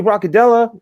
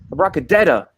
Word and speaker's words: Broccadetta: Tony Broccadella, how are you, man? Broccadetta. I've been saying it wrong this whole time.